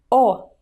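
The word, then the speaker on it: О: is the letter O to pronounce it round up your lips like in the word morning all together oh oh oh both bloc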